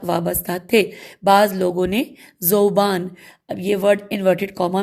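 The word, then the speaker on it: ذؤبان: بعض لوگوں نے زوبان، اب یہ ورڈ انورٹڈ کاما میں ہے اور ہم اس کی ہجے کریں گے، زال واو، واو کے اوپر حمزہ ہے، زوبان بے الف نون، زوبان.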